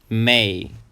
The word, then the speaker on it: May: The next month is May. Again, it's a one-syllable word and it has a sound A, like in say, May.